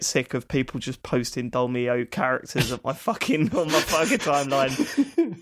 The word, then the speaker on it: Dolmio: Why do you keep saying Dormio? Yeah. The Dormio, what am I saying? Is that wrong, Dormio? There's an L in it.